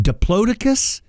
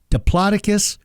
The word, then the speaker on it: Diplodocus: For instance, is it Diplodocus, Diplodocus, or Diplodocus? The answer is yes.